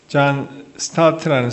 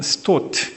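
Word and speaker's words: Stott: 여러분 그 영국의 신학자 중에 존 스타트라는 사람이 있습니다. 뭐 영국 사람이니까 아마 존 스토트 그렇게 발음해야 되겠죠.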